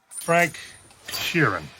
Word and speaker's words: Frank Sheeran: let's take a walk i'm your best friend frank sheeran i saying that right yeah you said it